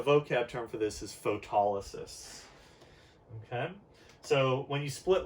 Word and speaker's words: photolysis: I usually pronounce it photolysis just so you can really see the roots in there, but it's pronounced photolysis. So photo means light, lysis means split.